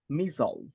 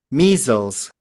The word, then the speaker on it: measles: can you repeat pronunciation Feer yeah no problem pronunciation missel missiles check on this one let me copy